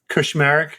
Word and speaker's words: Kushmerek: My name is Kushmerek. It's phonetically correct.